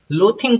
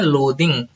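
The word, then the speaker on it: loathing: लोथिंग कोई ना पढ़ना, इसे बोलते हैं लोदिंग।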